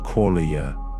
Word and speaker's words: qualia: These inner experiences, raw, subjective, personal, are called qualia, pronounced qualia.